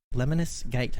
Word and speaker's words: Lemnis Gate: but mighty goose fight booby scarlet nexus and lemonis gate that's how you pronounce that one that's covered by me um